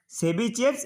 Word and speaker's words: Tchebycheff: But spelling is TCHEBYCHEFF' inequality. But pronunciation is Chebyshev inequality.